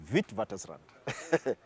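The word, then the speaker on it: Witwatersrand: it it reads with wat Rand but it's pronounced vit wat Rand yeah so and while I was there the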